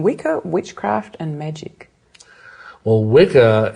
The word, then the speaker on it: Wicca: Well, Wicca, it's actually it's pronounced witcher, really. It's the old Anglo-Saxon word that means bent or twisted originally, but it's the origin of our word witch.